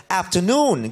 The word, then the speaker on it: afternoon: Good afternoon Good afternoon afternoon accent Falls on the last syllable afternoon Good afternoon meam Good